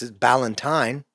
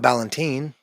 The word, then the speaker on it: Valentine: I've learned it's bal it's it's Valentine, not Balentine.